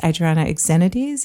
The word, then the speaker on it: Adriana Lazaridis: There was, of course, Adriana Lazaridis. Is that how you pronounced her name? Yes, and that is actually who I'm named after.